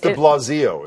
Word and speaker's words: de Blasio: It's de Blasio is how you pronounce that de Blasio.